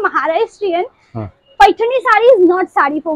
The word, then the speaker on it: पैठणी: तो ये है pure पैठणी, we call it Narayani पैठणी, Narayani पैठणी, हां Narayani पैठणी, it's pronunciation like being a Marathi we call it पैठणी, पैठणी, पैठणी, मुझे भी आती है।